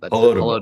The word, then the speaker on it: Holodomor: now I don't know if I'm gonna be able to pronounce that at all. I think you Yeah, just ruined my brain. Holodomor. That's it. Holodomor.